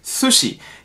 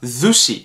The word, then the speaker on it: sushi: jetzt schon ich sage sushi die meisten deutschen sagen aber sushi das ist nicht richtig auf japanische art und weise denn dass es wird scharf ausgesprochen sie nicht süß sondern sushi das gleiche haben wir